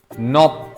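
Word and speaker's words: knock: नोक, इट्स नॉट एन, एन not silent. Yes. के silent and नॉक।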